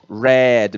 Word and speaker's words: read: diferença é a pronúncia o que era rei de se transformou em Red mesmo pronúncia da cor vermelho tá galera Red Professor como